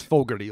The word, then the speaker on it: Fogarty: It's Fogarty, like John Fogarty from CCR.